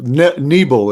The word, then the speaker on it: Nebel: Nebel is how you say Tom's name. Nebel.